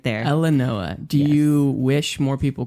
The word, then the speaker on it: Elenoa: It's Elenoa. Elenoa. Yeah. So it is spelled, sound like it's spelled. Yes, it's exactly how it's spelled.